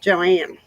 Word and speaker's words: Joan: My mother-in-law spells her name like Joan, but it's pronounced Joanne.